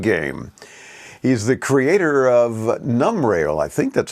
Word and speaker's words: Numbrail: glad to have you am i pronouncing it that correct num rail like number rail is that how you say it yes you got it right it's numbrel so it's like number and like trail braille okay tell me about